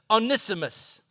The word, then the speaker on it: Onesimus: I'm telling you, you pronounce his name Onesimus.